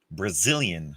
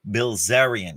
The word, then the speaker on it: Bilzerian: It's already been twice that Mr. Dan Brazilian, how do you spell it? Bilzerian, I'm sorry, Bilzerian.